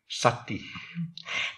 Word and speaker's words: sati: Some of you all would know the Pali word for mindfulness is very short, just four letters with two syllables, sati.